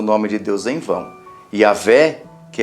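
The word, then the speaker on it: Yahweh: foi falado né que é yavé o nome dele não Jé não existe Jé é yavé nem Jeová isso é tradução que eles inventaram é yahvé o mais próximo daquilo que poderia se pronunciar não é pronunciável não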